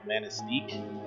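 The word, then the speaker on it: Manistique: you've never heard of called manisteek that's not how it's spelled you don't know why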